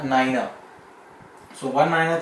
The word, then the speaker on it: niner: its most important you will not be pronouncing 9 as 9 in RT R because 9 is wrong pronunciation in ie language it is a Niner so one minor 3